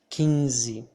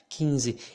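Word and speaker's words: quinze: would say peng so we do not pronounce the n the n here in this situation makes the vowel that comes before of it become a nasal vowel okay so here i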